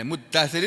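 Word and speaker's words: المدثر: ya ayyuhal muddatir gitu Nah muddatir itu dari dari kata asal katanya almutadastiru udghimat taau diidgamkan huruf ta Fid Dal ke dalam huruf Dal ini loh tak yang ini diidhamkan dimasukkan ke dalam huruf Dal sehingga tidak tidak kelihatan lagi yang ber yang yang terjadi kemudian almuddasir nah gitu ya Wal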